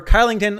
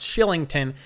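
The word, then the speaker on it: Kylington: good player to add then i have oliver carlington although i actually found out recently it's pronounced shillington either way he's been absolutely incredible not getting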